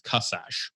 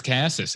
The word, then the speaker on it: Kaszas: The Hungarian pronunciation is Kaszas, but my name got